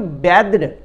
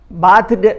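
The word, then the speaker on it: bathed: तो BATHE बैद होता है इसका प्रोनाउंसिएशन, बाथ जो होता है BATH, ये वर्ब नहीं है, वर्ब फॉर्मेशन उसका BATHE, तो उसका बैद्ड, बाथड नहीं कहेंगे, उसको बैद्ड कहेंगे।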